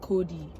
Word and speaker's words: Chode: Then she drops the name on me, pronounced Cody. Oh, but of course, it isn't spelled that way. She had to put her twist on it to make it special. She's spelling it CHODE.